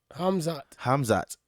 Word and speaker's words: Khamzat: Khamzat? Huh? Say Khamzat? Hamza? Khamzat.